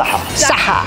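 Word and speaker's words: صحة: Saha. Saha.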